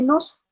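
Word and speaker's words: Knossos: Y el más importante, y el que existe todavía, es el de Nos, aunque se escribe Cenosos, ¿sí? Ellos lo pronuncian nada más como Nos.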